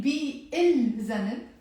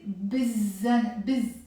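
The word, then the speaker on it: بالذنب: So instead of saying bi il zanab, we will end up saying immediately, as if it's not here, we will say bizzanab, bizzanab, bizzanab, hesse bizzanab.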